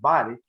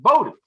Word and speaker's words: Bodie: I want to go next to and people in this area might pronounce it body, but he does not pronounce it body. He pronounces it Bodie.